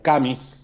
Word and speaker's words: Camus: Juan, hecho esta introducción, Albert Camus, o Camus, como se pronuncia, ¿fue un futurólogo con la obra de La peste de Albert Camus?